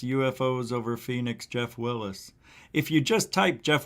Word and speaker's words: Willes: that people have is my last name is spelled w-i-l-l-e-s and people always want to put w-i-l-l-i-s and it's not like bruce willis it's like uh it's yes let's try with an